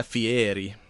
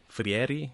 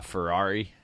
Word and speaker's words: Fieri: have heard of, Guy Fieri. Fiatti. I don't know how how you pronounce that. Dinners, drive-ins, and dives. I used to always say uh Ferrari and that that's not right at all.